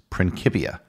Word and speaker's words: Principia: was written in Latin in Latin the letter c is always pronounced as a hard C like the letter k principia is an anglicized